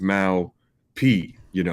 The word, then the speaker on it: Mau P: it's amazing because like people in the US, when they say my name now, sound like they are saying my actual Dutch nickname, and people in Holland, they mispronounce it now because they say Mao P, because like the P, that's P in Dutch. So we sort of Freaky Friday reversed it to, Americans now pronouncing my nickname right.